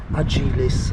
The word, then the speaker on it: Agilis: They're the Motorhome brand, which is Agilis, I think it's pronounced, A-G-I-L-I-S.